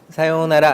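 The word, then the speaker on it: さよなら: 땐 어떻게 한다고 사용하라 사요나라 해보세요 사요나라 여기서도 우울을 발음한다 라기보다는 요를 길게하는 느낌이에요 사요나라 이렇게요 사용해라 무조건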